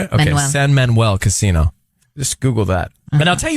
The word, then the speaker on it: San Manuel: San Manuel, is that how you say it? Okay, Manuel. San Manuel Casino.